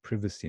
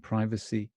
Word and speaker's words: privacy: So privacy and privacy, that's it. There's the word, there's the form, the spelled form, but the pronunciation is different.